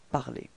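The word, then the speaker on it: parlé: Phonétiquement, vous obtenez exactement la même chose, puisque l'infinitif c'est parler dans cet exemple, et le participe passé est prononcé parler.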